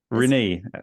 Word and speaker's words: Rinne: you how to say your last name Rene Rene yes one of the most common mispronounced names in the well so you did